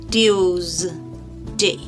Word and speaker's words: Tuesday: Tuesday. Not s, z, z.